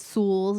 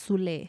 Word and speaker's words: Sues: it's spelled you guys you guys spell it and pronounce it sus but it's sues sues Bakery and the Leon